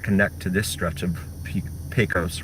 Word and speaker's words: Pecos: I've had several viewers tell me that it's pronounced Pecos and not Pecos. So Pecos it is.